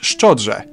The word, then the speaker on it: szczodrze: Szczodrze given the opportunity to sell myself out. And so we're done with the word szczodrze.